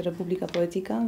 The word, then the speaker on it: Republica Poetica: O tyle Republika Poetika, po hiszpańsku wymawia się Republika Poetika, więc nie ma problemu.